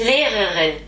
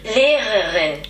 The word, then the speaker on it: Lehrerin: Lehrerin.